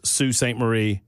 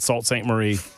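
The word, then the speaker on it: Sault Ste. Marie: And I've been told this by several different people that it's Sue St. Marie, not Salt St. Marie. Disrespecting the Canadians, eh? It was s a u l t, but that's pronounced sue.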